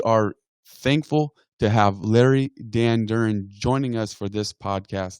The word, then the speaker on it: Danduran: say your last name it's pronounced Dan Duran Dan Duran okay just like it just like it reads but I don't want